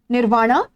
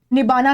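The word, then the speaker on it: nibbāna: You will attain निर्वाणा या जिसे पाली भाषा में निबाना कहा जाता है। क्योंकि यहां पे रस साइलेंट होता है।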